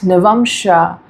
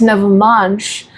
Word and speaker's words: Navamsha: So there are these few people, handful people, they say it's Navamsha, it's not Navamsha. But bro, Navamsha is right, Navamsha is also right. Navamsha is not the wrong pronunciation.